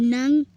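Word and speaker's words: 何: Seperti yang saya sudah katakan sebelumnya, kanji ini bisa dibaca dengan nan atau nani, tergantung dari kalimat itu sendiri.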